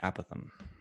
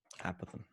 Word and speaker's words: apothem: edges be a Pithom people round that word differently the apothem how would you pronounce it I always say apothem a possum bottom a Pithom I guess one of those cases right I think they're both correct so we have the